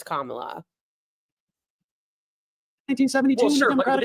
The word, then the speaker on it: Kamala: We know it's Kamala.